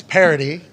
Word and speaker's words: parity: No, that's Parity, spelled I-T-Y, P-A-R-I-T-Y. What you're talking about is parody, which is how Antonio Brown pronounces parody, O-D-Y.